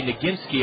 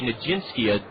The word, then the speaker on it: Nagginki: I It's hard for me to say Nagginki. I always am about to say Najinsky, but it's a hard G.